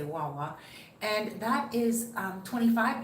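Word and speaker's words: guagua: and that is or wawa you don't pronounce the g it's g-u-a-g-u-a and you just say wawa and that is um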